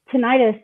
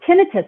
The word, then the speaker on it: tinnitus: But actually, both pronunciations are correct. Tinnitus and tinnitus are both correct pronunciations.